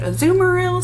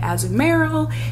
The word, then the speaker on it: Azumarill: And then there's a little, some people pronounce it Azumarill, some people say Azumarill.